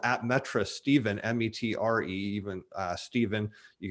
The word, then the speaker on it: Metre: twitter it's uh it's pronounced more accurately than is spelled at metra stephen m-e-t-r-e even steven you can find me